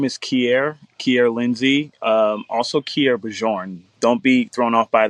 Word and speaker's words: Kierre Bjorn: I think I went from Kierre Bjorn. Am I saying it right? Yeah. Say it again. Kierre Bjorn.